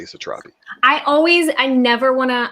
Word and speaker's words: Satrapi: read this book and i am gonna say satrapi i always i never wanna i i never wanna get anybody's name wrong i always feel bad feeling mispronouncing that